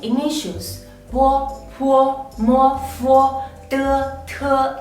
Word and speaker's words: bo: Bo is a plosive initial. When pronouncing bo, you have to close your mouth and let the air go through your mouth. In the meantime, your lips block the airflow.